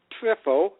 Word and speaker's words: Triffo: My last name is TRIFFO. Really, that's how it's spelled.